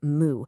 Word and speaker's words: 木: Okay, so meet our hero, the character Moo, which is pronounced moo.